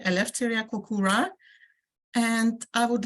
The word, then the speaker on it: Eleftheria Koukoura: and our first speaker is I hope I pronounce this correctly I left area kokura and I would like you if you are